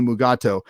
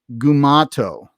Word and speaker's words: Mugato: he says uh that it's pronounced a bunch of different ways you've got uh the standard mugato you've got gumato you've got um uh uh mugu mugutos something like that and so